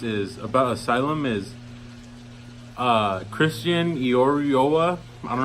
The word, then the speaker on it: Eiroa: This is the Asylum Schizo, and a little fun fact is about Asylum is Christian Iorioa. I don't know how to pronounce his last name. It's Eiroa.